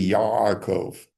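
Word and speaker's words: יעקב: The answer is that it's really Yaakov. And so there's a stricture, a closing off in the back of your throat, which to an Ashkenazic ear sounds like the letter N. It's really not the letter N, but it's close to it.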